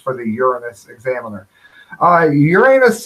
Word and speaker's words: Uranus: of Uranus which is pronounced the way any self-respecting class clown would say it so so much for the Uranus Examiner uh Uranus it's along route 66